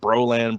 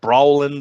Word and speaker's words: browland: kind of stuck and people pronounce it bro land brawling brawland or whatever depending on their accent I mean whatever people